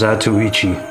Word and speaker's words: Zatoichi: So it's pronounced zatoichi.